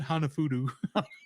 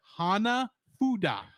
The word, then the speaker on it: Hanafuda: I said it wrong, didn't I? You said Hanafudu. Hanafudu. Hana. Say it with me. Hana. Ha. Ha. Na. Fu. Fu. Foo Fighters. Say what you will. I have never had to fight any Fu. They've kept us in good shape. They're obviously doing their job. Oh my gosh. No, it's Hanafuda.